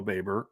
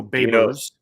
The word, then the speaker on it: Babers: Our new Dino Baber. I don't get that. It's Dino Babers.